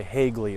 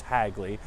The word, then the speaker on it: Hagley: with Hagley as well I used to say hey Glee all the time as a kid but it is pronounced Hagley and of course Winterthur is not far away